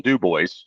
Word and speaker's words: Dubois: So we have a DuBois, Wyoming, and we get teased because it's Dubois. French. It's actually Dubois, yeah.